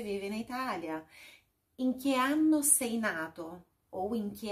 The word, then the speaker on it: anno: Olha só, tem dois N's, então a pronúncia é um pouquinho mais puxadinha nesse N. É anno. Da che anno vive in Italia?